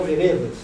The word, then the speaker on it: vereda: vereda no Grande Sertão Veredas. Mas a palavra vereda é uma linda palavra, é uma palavra de 3 sílabas e paroxítona como sendero.